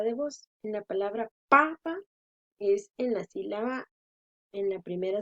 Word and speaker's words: papa: En la palabra papa es en la primera sílaba pa. Y en la palabra papá es en la última.